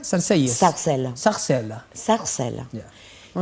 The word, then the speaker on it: Sarcelles: ¿Cómo se pronuncia? Sarcelles.